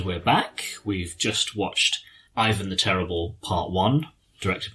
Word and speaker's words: Ivan: kind of opens with ivan or ivan that's how you say it even yvonne is the more russian way but like ivan is